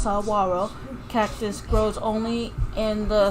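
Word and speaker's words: saguaro: Saro Cactus the Saro Cactus uh grow grows pronounced saaro Cactus grows only in the sonan desert which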